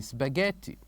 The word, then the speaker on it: spaghetti: So what is the letter that we don't say here in this word spaghetti? It is of course letter h.